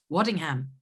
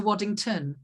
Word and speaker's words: Waddingham: was literally like hey did i did i say your name correctly at the veganist interview waddingham yeah did i say that yeah okay i think i did i think i said it right it turned into waddington oh okay okay good